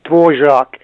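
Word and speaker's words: Dvořák: I don't know how the Americans would pronounce that. We say Dvorak in Czechoslovakian.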